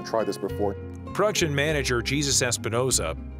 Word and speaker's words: Jesus Espinoza: Production manager Jesus Espinoza, yes, that is the correct pronunciation, keeps the wheels turning in this complex reverse manufacturing process.